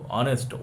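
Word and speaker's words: honest: এই যে সাউন্ডটা হচ্ছে না, এইচ হচ্ছে সাইলেন্ট হয়ে আছে, দেখো অনেস্ট ও থেকে সাউন্ড হচ্ছে, তাহলে কি ওটা কি ভাওয়েলের মতো সাউন্ড?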